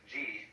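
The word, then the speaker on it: 事: The word Ji, which is Japanese way of pronouncing the Chinese Chur, is the things and events.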